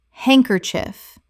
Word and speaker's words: handkerchief: Handkerchief. Three syllables in natural speech. The D in hand is silent, and the final syllable is reduced.